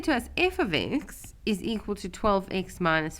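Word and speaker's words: f(x): thing for us here at grade 10 level f of x is how you pronounce something like this so you'll read that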